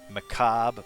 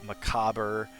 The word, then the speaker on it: macabre: the word macabre right macabre has something like seven acceptable pronunciations uh it can be like macabre macabre macabre macabre like and they're all they're all like acceptable variants so many ways to